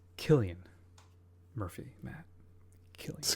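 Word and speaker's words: Cillian: It's Killian Murphy. Matt Killian, excuse me. Hearties. Gota get hearties. That's right. Don't worry, I pronounced Sicilian for the first like 20 years when I first saw him.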